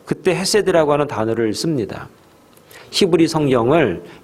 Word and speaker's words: 헤세드: 인자하심이라고 하는 그 말은 히브리 원어상 헤세드라 이렇게 발음을 합니다.